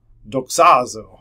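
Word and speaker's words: δοξάζω: one is you can figure out how to pronounce it um doxazo doxazo all right so that was better than how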